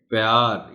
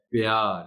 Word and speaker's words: پیار: کی خاص توجہ چاہیں۔ پیار عام طور پر تقریباً صحیح بولا جاتا ہے یہ لفظ، مگر بعض اوقات کچھ لوگ روانی میں پیار یعنی پے پر ہلکی سی زبر کی آواز پیدا کرتے ہیں۔ درست تلفظ اس لفظ کا ہے پیار، یعنی پے کے نیچے زیر کو نمایاں کر کے پڑھا جانا چاہیے۔ شامل، اس میں احتیاط